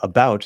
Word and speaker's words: about: Well, about is stressed on the second syllable, but I guess forward.